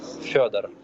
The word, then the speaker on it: Fedor: It's Fedor.